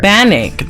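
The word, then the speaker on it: Bannik: How about so Bannock, the bathhouse sprite.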